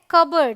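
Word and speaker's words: cupboard: है कू ऑलराइट क्या है क ये है कबर्ड यहां पर पी साइलेंट है यहां पर भी पी ट है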